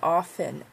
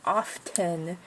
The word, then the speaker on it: often: the most is often I say often often it's a silent tea but so many people say often and it's just so